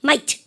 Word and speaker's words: might: GH 발음 하시면 안 돼요. 마그 하면 돼요. might. GH 발음 하지 마세요. 발음가 might.